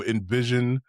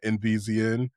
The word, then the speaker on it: NVZN: The description will have links to the the game itself and more about the studio, Envision, which that's how you say it, not NVZN.